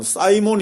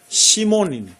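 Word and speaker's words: Σίμων: 하는 것도 뭡니까 영어는 영어로는 사이몬 이죠 예 근데 헬라 말은 시몬이 시몬 예 발음이 훨씬 더 원 씬 더 그니까 영어로는 그렇게 표현을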